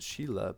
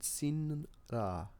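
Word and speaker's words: Silla: Which I've always pronounced it Sheila, but maybe is it Sinla? Yeah, that's the correct pronunciation. Sinra. Sinra. Even though it's Sila. Interesting.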